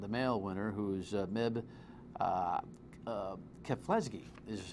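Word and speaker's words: Keflezighi: Rita jeptu and the male winner who's MIB keflesky is how you say it we got some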